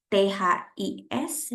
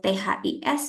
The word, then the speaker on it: this: Jadi kalau ada kata this, THIS dan THESE itu beda cara bacanya ya. Kalau THIS bacanya this ya, tidak panjang gitu ya, this.